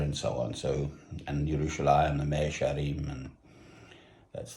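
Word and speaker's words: ירושלים: Yerushalayim is the way of pronouncing it if you're Jewish.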